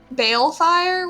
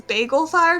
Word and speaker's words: Balefire: And then there was the one guy who I kept reading his name wrong online the entire time. Balefire, whatever. Yes. And I thought it was Bagel Fire, so I thought his name was Bagel, and then when he said it in the show, I was really confused.